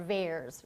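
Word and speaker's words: VAERS: event reporting system or vares rhymes with bears and this is a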